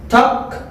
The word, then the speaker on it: talk: Talk, talk. The letter L is not pronouncing.